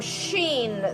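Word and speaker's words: شين: And we have harfu shin, the letter sh. Sh. So it's like you take the letter sin, s, you add 3 dots on top, and it becomes sh.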